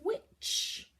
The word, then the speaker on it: witch: It's got a silent t in it because the ch makes it difficult to hear the t.